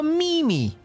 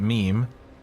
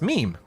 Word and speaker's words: meme: A mimi.